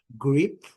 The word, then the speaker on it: grip: Então é grip, grip grip. So bem curtinho. Short short.